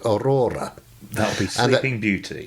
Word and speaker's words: Aurora: I was thinking, no, it's Aurora, not Aurora.